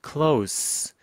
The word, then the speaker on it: close: 자, 가까운이라는 형용사로 쓰일 때는 close 발음 나고요. 뭔가를 닫다라고 할 때는 close 이렇게 합니다. close the door 할 때는 z. 지금은 형용사이기 때문에 s입니다. close.